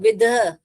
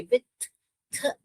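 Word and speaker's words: with: इसको हम थोड़े ध विध विध नहीं पढ़ते हम इसे वि थ थ ये वाला पढ़ते हैं इसको ये वाला तो अनवॉइस माने ये वाला सॉन्ग और वॉइस माने ये वाला सॉन्ग द अभी क्लियर है तो अनवॉइस माने थ और यहां पर विथ वि हम वि द नहीं पढ़ते हैं ऐसे हम विथ वि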